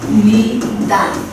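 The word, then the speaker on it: 입니다: गर्नु पर्ने थियो नि तर यो रुलले के भन्छ बडी न आए भने यो ब को उच्चारण चाहिँ केमा चेन्ज हुन्छ म को म मा चेन्ज हुन्छ त्यही भएर यो इम इमनिदा भनेर यसरी चेन्ज हुने पर्दछ के बुझ्नु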